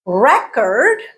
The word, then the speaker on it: record: give you an example record is a noun okay what was our guiding principle for two syllable nouns stress is on the first syllable record okay if we want to turn it into a verb we changed the stress pattern and put the stress on the second syllable we also changed the